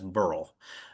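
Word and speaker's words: Beryl: Maybe I missed this, but a few books ago, I had a custom pronunciation from the author to pronounce B E R Y L Burl as Burl.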